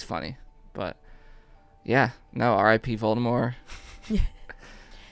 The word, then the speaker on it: Voldemort: but yeah no r.i.p voldemort you never pronounced the t voldemort yeah voldemort i like